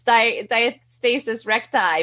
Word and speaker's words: diastasis recti: thank you now i know people say on diastasis recti in a whole bunch of different ways you're the doctor how do we pronounce it yeah you got it right it's die diet stasis recti but it's funny because i have a lot